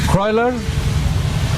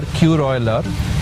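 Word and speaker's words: Kuroiler: Koylar, as we spell it, K-U-R-O-I-L-E-R, Koylar.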